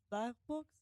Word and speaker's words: Baerbock: Baerbock's? How do you pronounce her last name?